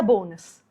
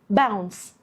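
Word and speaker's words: Bounce: رقم 4 والأخيرة معانا النهاردة هي باونس، لعبة تليفونات نوكيا اللي كلنا بلا استثناء لعبناها وكنا بنقول عليها بونس، بس اسمها باونس مش بونس.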